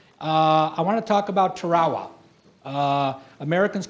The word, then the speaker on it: Tarawa: to the beach and when I said Tarawa he said Sonny he says it's pronounced Tarawa and the way you